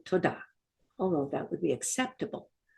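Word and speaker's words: תודה: In Hebrew, it's just one word, toda. For any of you that are in New Zealand, this should be really easy because the way they say thank you is ta. Well, this is kind of like that, only it's toda.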